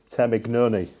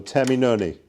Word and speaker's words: Termignoni: I used to say Termignoni, but that's wrong. So Termignoni.